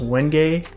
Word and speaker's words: wenge: to purple heart to what I would have called wenge if I hadn't heard a bunch of people already pronounce this wood before. It's wenge, pronounced wenge.